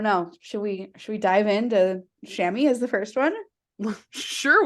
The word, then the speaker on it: chamois: Pronunciation guide. It literally says chamois.